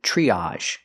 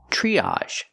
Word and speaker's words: triage: and this word is triage triage TR makes the chch sound like chick plus the R Tree use the long e like green beans triage again we have the a sound triage a triage Center